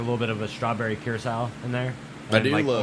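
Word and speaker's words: Curaçao: uh whatever i i don't know how to pronounce the name kirk kirkau kurt curse howe christoph curse our good job curse up blue curacao yeah but it seemed like there's like a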